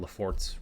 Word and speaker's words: Laffort: of these are all about, go check out Lafort's website. Their company name is spelled Laffort.